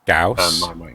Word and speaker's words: Gauss: Why couldn't they just spell it GAWS? Because that's not how the word is spelled. No, but that's not how the way the word is pronounced.